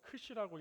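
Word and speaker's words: Ξ: 오늘 귀한 본문 말씀을 통해서 어 X라고 돼 있는데 X가 아니고 크시라고 읽습니다.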